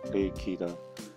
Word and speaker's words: 레이키: 한자로 쓰면 영기인데 일본어식 발음은 레이키이다. 영어가 아니라 일어인 셈이다.